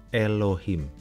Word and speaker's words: Elohim: Kata dasar untuk Allah dalam bahasa Ibrani diucapkan Eloh atau Eloah dan Elohim. Sedangkan dalam bahasa Aram, Elah dan Allaha. Kemudian bahasa Arab, Ilah dan Allah.